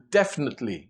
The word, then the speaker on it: definitely: Definitely, we don't pronounce the I in the middle.